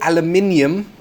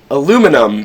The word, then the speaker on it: aluminium: say the same thing I would say aluminium aluminum because we forgot that there was an i in it so we pronounce aluminium